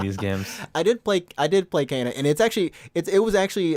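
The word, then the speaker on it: Kena: I think her name is actually, for some reason, it's spelled Kenna, but when you hear it in the game, it's like Kana.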